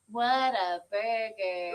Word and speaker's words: Whataburger: come get your taxes can you please say it right what a burger come over here